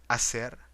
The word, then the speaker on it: hacer: H is always silent. Example, hermano, hacer, deshacer.